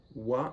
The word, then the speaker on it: は: You have to notice also that wa is actually written with the hiragana ha. Okay, but we actually pronounce it wa.